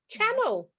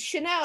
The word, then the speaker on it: Chanel: And I obviously, as you do, you look at the register, and I called her Channel. Oh, And her no. mum was like, "No, it's Chanel." I said, "But it's spelt Channel."